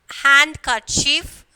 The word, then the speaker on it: handkerchief: So when we are pronouncing the word, the D is silent. Okay, and some, handkerchief, and then sandwich. Okay, so we are not pronouncing the D.